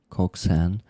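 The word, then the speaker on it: coxswain: It pronounced Coxan. Uh, the drummer of the boat. Coxen. A position. Coxen. Coxen. Coxen. Mhm. A position on a ship. Huh. Interesting. And I say it like Cox Swain.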